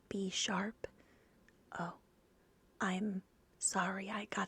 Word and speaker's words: Bisharp: Bineckle, Bisharp, Blazive, what? Okay, I'm going to try that again. Blaziphilon, Blastoise, I know that one. Blaziken, Blipbug, that sounds dirty. Oh, is it pronounced B sharp?